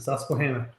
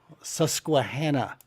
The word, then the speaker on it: Susquehanna: Because if I try to pronounce its real name, I'm gonna murder it. The Susquehanna. Susquehanna.